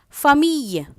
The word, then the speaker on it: famille: Whenever you see E-L or E-L-L-E, it is pronounced as Y. Soleil, S-O-L-E-I-L, soleil. Famille, F-A-M-I-L-L-E, famille.